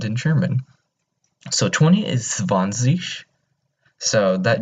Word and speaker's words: zwanzig: So 20 is zwanzig. So that G is not, you don't pronounce it as like a G. You kind of pronounce it as a SH. So zwanzig.